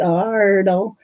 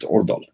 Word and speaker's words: Aardal: But you don't pronounce it Aardal. No, you pronounce it Aardal. Aardal. And it's the old... The old writing when we were trying to be Danish. Okay, can go closer. Yeah, because AA is the same as A with a circle over it.